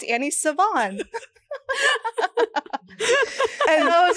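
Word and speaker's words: Svaan: Anyway, I said, it's Svann. Yo, yeah, it's Annie Svann.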